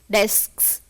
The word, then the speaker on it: desks: Because at the end you have 3 consonant letters. Letters. At a stretch At there a are 3. stretch. Yes. So sometimes we find it difficult to pronounce the word, to say the word.